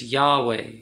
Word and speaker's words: Yahweh: yod che bao che the hebrew characters and they say pronounced together as a word it's yahweh that's what the most